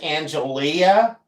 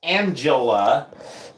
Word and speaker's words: Angelia: feels like it but her name is pronounced Angela but it's spelled Angelia which is totally fun